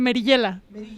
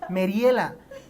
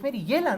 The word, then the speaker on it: Merillela: para platicar meriyela merillela Cómo se pronuncia tu nombre tal cual merillela Sí así Yo decía me tocó escuchar en alguna entrevista que te hicieron Mariela y yo dije pero es merillela no porque pues tiene